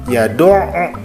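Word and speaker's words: يَدُعُّ: Contoh yang kedua, yad'u. Nah, kan di situ ya ada penekanan ya, yad'u. Nah, jadi dibacanya yad'u.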